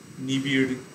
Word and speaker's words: নিবিড়: কিন্তু যখন ড শব্দের মাঝে থাকে, যেমন ক্রীড়া, সংস্কৃতে ক্রীড়া, গুড় এরকম উচ্চারণ হবে, নিগড়, বাংলায় কিন্তু সেখানে ড উচ্চারণ হয়, ক্রীড়া, নিগড়, নিগড়, গুড়, গুড়ো এরকম, নিবিড় এরকম উচ্চারণ হয়।